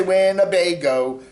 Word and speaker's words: Winnebago: what you say when abaga when i say winnebago it's winner vega hey we're talking about uh